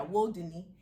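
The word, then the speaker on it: Wudini: w-u-d-i-n-i but you clarify it's not pronounced like houdini which is how it is it's not that so yeah it's world disney what yeah disney like will there and yeah woe dunny and what is that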